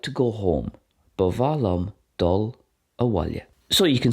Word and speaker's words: ba mhaith liom: which is I like, and bavahlam, which is I would like or I want, bavahlam. That can also be pronounced with a W sound as well, bawahlam.